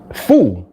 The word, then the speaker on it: pho: Foo or pho? It's pho? It's pho or fa? Fu, like kung fu.